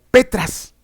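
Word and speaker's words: πέτρα: roca edificaré mi iglesia la palabra roca en el griego antiguo se pronuncia como petras como petras así y Petra no se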